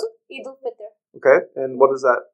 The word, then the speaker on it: Eid al-Fitr: How do you pronounce it? Eid al-Fitr.